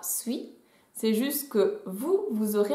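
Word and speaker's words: 水: Dans tous les cas, le kanji se prononcera sui.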